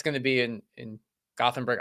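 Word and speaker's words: Gothenburg: be in in gothenberg I think it's pronounced guthenberg I think uh I'll find out when I get there is it one of those is Swedish a language where the th is not is like Gutenberg you know what I mean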